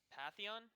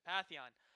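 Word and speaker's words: Pantheon: me and it looks like SSC is going Patheon that's how you pronounce it yeah Patheon and which is very good he's also very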